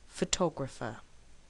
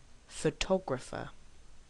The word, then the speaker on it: photographer: is it photograph or photographer of course with word stress you will know immediately which word it is because in reality you will either hear photograph or photographer so without hearing the